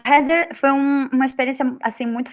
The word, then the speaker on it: Heather: é Heather.